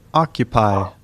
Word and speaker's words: occupy: আচ্ছা, এরপরে শব্দ আমরা যদি এটাকে দেখি তাহলে পাচ্ছি kind, kind, quit, quit, clear, clear, stocks, stocks, occupy, অকুপাই।